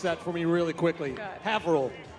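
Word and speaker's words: Haverhill: Havil. I used I had to but first time I moved up here I I had to pronounce it Haverh Hill.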